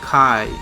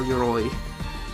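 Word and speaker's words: 鎧: Armor means armor, and is pronounced Kai or Yoroi.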